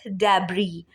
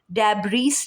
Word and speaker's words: debris: Second, DEBRIS, डेब्री, डेब्रीस नहीं बोलेंगे, डेब्री बोलेंगे।